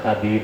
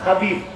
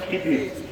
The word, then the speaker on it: খাদির: আছে, তার নাম হযরতে খাদির। নামটা খাদির, আপনারা বলেন খিদির, শুদ্ধ উচ্চারণ কি? খাদির। খাদ্রন, ক্ষুদ্রন, খাদ্রা বলে সবুজকে।